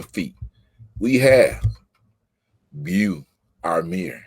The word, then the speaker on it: Beau: We have Beau Amir.